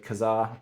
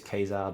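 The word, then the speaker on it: Ka-Zar: land meets up with Kazar kesar I was again another name that I hear people pronounce differently I've always said Kazar I think technically it is kesar but anyway it's by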